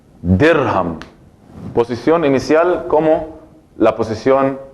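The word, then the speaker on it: درهم: La D aquí tiene fatha, kasra o damma. Tiene kasra, muy bien, porque pronuncio dirham.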